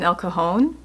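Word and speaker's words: El Cajon: at a place in elcone it's spelled c AJ o n and you know he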